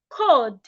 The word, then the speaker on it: cold: We also have cold, not cold. The L in that word is silent. So do not say cold. Say cold, cold. The L is silent.